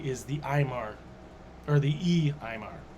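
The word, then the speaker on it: Uí Ímair: the Aimar, or the E-Aimar. So it's the U-I, just like the Enil. This is the E-Aimar.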